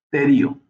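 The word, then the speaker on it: pterion: fontanela que se llama terio. La terio, ¿okay? esterium. La P es muda en este caso, pero se escribe así P T E R I o Nerio.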